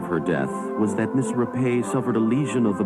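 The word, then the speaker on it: Rappe: An aspiring young actress named Virginia Rapay, but pronounced Rape by the media, joined an Arbuckle party in room 1220 of San Francisco's St.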